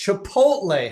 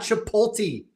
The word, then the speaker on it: Chipotle: It's Chipotle, Howard. It's not Chipolti. Stop saying Chipolti.